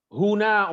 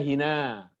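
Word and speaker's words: هنا: Huna umpamanya dibaca hina. Hunalika, hinalika.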